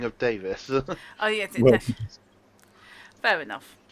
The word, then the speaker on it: Davies: Which is pronounced Davis, of course.